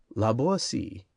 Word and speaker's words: La Boétie: Laboi. Footnote. The name of the author should be pronounced with the T sounding like S and rhyming with poisey accented on the last syllable.